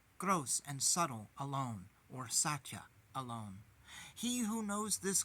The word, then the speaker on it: Satya: Those gods meditate upon Satya alone. This name, Satya, consists of 3 syllables. Sacrifice is the first syllable, T is another syllable, and Ya is the 3rd syllable.